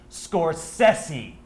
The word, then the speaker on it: Scorsese: a film with a little man called Martin Scorsese and yes that is how he likes his name to be pronounced Scorsese we had lunch last week he adores cobb